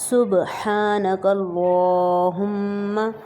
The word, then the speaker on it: سبحانک اللہم: صبح، سبحان، سبحان اللہم، میم پہ شد کی وجہ سے یہاں پر غنہ ہوگا، سبحانک اللہم وبحمدک، میم کو بالکل بھی نہیں کھینچیں گے، وبحمدک وتبارک اسمک،